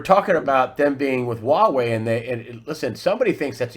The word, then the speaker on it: Huawei: UK and UK intelligence if they're connected to Hawaii's, if I'm pronouncing it right, Huawei. 5G. What is it? I'm sorry? Huawei.